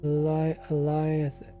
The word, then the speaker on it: Elias: How do you pronounce your name? You see Eli or do you say um? Elias. Elias.